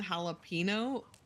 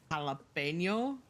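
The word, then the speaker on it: jalapeño: It's definitely better than jalapeno. I will say it's jalapeno. Pen, like what you write with.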